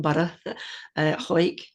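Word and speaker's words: Hawick: team really but hike just say it really quickly one one syllable quick what was it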